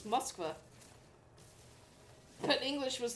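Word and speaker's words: Москва: Well, sometimes we screw with them, like Moscow is not pronounced Moscow, it's Moskva.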